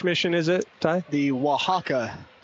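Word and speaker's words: Oaxaca: to Mexico which mission is it Ty the Waka w spell o a x a c a you pronounced it well have you been studying some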